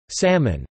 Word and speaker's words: salmon: For example, salmon is usually pronounced with a distinct L.